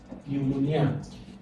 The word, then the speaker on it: pneumonia: Meanwhile, it's wrong, because in this word, when you call this word, P is silent. You don't hear the sound P. So this is what? Pneumonia.